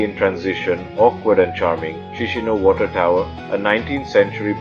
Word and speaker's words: Chișinău: First up, let's land in the capital, Chișinău. It's pronounced Kish, I know, sort of.